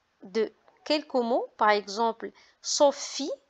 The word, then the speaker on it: Sophie: Par exemple, Sophie. Donc, vous remarquez PH qui se prononce F comme photo.